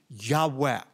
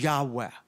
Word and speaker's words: Yahweh: Semitic schols believe is pronounced a breathy Yahweh so the Lord said